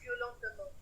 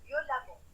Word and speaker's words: violemment: Hey, moi je suis violentement. Elle m'insulte. Violemment. C'est violent, ça se prononce violemment.